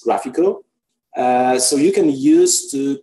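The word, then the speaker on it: GraphiQL: I know there and the single letter that you get between graph and QR the pronunciation is graphical so you can use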